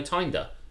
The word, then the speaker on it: Tinder: And I'm like, no, Tinder, because it rhymes with grinder.